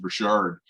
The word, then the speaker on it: Richard: And my last name is actually pronounced Richard. For Uh, sure. Okay. yeah, just like the Rocket Richard, the hockey All player.